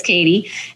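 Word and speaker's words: Kady: Katie mindset coach now my name is spelled k a d y you're not going to think it's Katie but it is Katie and uh follow me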